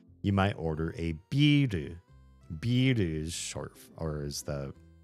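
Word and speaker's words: ビール: You have to kind of hear like the longer I sound, the longer e in that word because there's a tempo to Japanese spoken Japanese.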